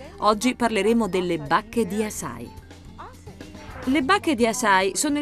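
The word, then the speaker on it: açaí: si iscrive a c è e si pronuncia a sai ma che cos'è esattamente ciao sono susan bowerman dietologa oggi parleremo delle bacche di assai le bacche di assai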